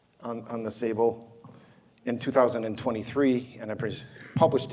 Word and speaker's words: Tsable: I did on the Sable River you don't pronounce the T on on the Sable in 2023 and I